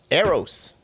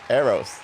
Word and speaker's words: Aerros: But anyway, I want to, bring our guest on, very dear and close to me, Eros. Oh, that's how you pronounce it. Yeah, Eros.